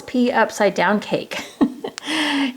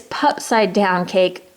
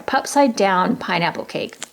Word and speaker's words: Pupside Down Pineapple Cake: Okay, also when I pronounced this the last time, I was like, oh, it's pea upside down cake. It's pupside down cake. Oh, I'm sorry, pupside down pineapple cake.